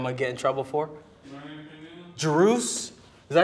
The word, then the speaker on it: Druze: Drews? Is that how you say it? Yeah, Drews.